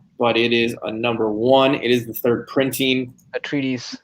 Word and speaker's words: Atreides: A treatise, I think. Yeah, that's how you say it.